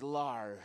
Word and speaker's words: Larshhhh: The demon's name is Larshhhh. Four H's, you gotta pronounce them all.